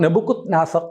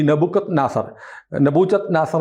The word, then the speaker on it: നെബുക്കദ്നേസർ: അപ്പം നെബുക്കദ്നേസർ എന്ന് പറയുന്ന ഒരാളുണ്ടായിരുന്നു. അതായത് ഹാങ്ങിങ് ഗാർഡൻ എന്ന് പറഞ്ഞ ലോകാത്ഭുതങ്ങളിലൊന്നാണ്. ഹാങ്ങിങ് ഗാർഡൻ നിർമ്മിച്ച ലോകാത്ഭുതങ്ങളിലൊന്നോ അതോ ലോകാത്ഭുതങ്ങളുടെ പട്ടികയിൽ വരാവുന്നൊരു സാധനം, തൂങ്ങിക്കിടക്കുന്ന പൂന്തോട്ടം ചരിത്രത്തിലുള്ളതാണ്. ഈ നെബൂഖദ്നേസർ എന്നും പറയും. ഉച്ചാരണം രണ്ട് തരത്തിലാണ്.